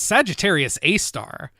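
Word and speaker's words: Sagittarius A*: three sad to say is Sagittarius a star which it's pronounced a star but it actually refers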